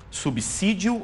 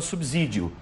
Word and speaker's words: subsídio: vou perguntar para vocês O correto é dizer subsídio ou dizer subsídio se puderem colocar a palavra na na aqui na tela eu agradeço bastante como se fala corretamente subsídio ou subsídio Aqui está a palavrinha subsídio subsídio subsídio E aí subsídio subsídio porque eu penso em subsolo também você pensa em subsolo veja vocês duas Claro